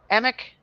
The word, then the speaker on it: Emch: Emick, Matt Emick.